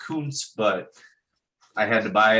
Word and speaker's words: Kuntz: Well, his name is actually pronounced Kuntz, but I had to buy it.